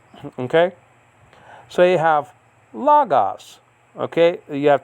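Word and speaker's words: λόγος: want to call it, that's to be higher on the first syllable, because that's where the acute marker is.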